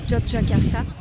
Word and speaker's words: Yogyakarta: fait cinq jours que je suis ici on prononce yogyakarta est franchement jolie ville bon depuis la dernière